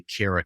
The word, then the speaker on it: Kara: of dive into content I always remember how to say your name because I say Cara cares and I like the